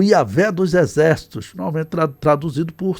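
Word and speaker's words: Yahweh: Eu coloquei aí o nome de Deus como a pronúncia mais aceita em hebraico, né, Yahé, tá bom?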